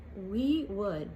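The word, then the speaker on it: Oui: Then it says Tom Ford, and it's we in French, O-U-I.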